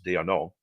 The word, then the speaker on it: d'Arnaud: In the top of the fourth inning, catcher Travis d'Arnaud, thank you for saying it right, blasted a